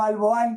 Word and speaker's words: Alboan: ONG de cooperación internacional y se pronuncia Alboan, no Alboan, que si no luego me regañan, que trabaja por una